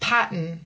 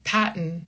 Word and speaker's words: Patton: because it's not paton, it's pat like I'm using that N as the second syllable basically.